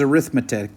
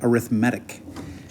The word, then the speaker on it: arithmetic: always said it but i know it's spelled the same as arithmetic but you say arithmetic this is an arithmetic sequence would you please